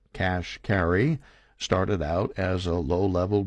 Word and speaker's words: Kashkari: high-level jobs at Treasury Neil Kashkari pronounced cash carry started out as a